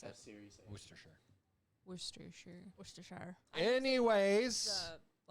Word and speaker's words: Worcestershire: By the Uh, way, it's Worcestershire is how you pronounce it. Worcestershire.